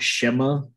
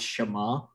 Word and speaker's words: Shema: deuteronomy 6 4-9 the it's not pronounced shema i don't know why they put it in there it's shama because the transliteration in hebrew is s-h-a-m-m-a-t um with the tv and silent but um shema is